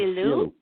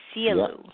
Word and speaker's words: Sielu: It's called Sielu. Sielu.